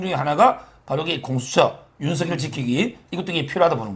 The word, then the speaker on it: 윤석열: 원래 발음은 윤석열. 윤석열. 석열로 해라 그러고 저는 윤석열 이렇게 발음하는데 근데 그 오타도 났는데